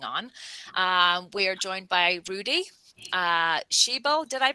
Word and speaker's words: Rudi Schiebel: We are joined by Rudi Schiebel. Did I pronounce that correctly?